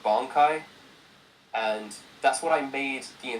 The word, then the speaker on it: Bankai: With Ichigo, he has an ability called Bankai, and that's what I made the entire hook based around. However, I pronounced it wrong the entire time. I said Bankai, which is not how it's pronounced.